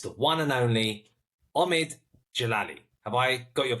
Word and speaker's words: Djalili: it's like Novak jovic the D is silent it's a bit like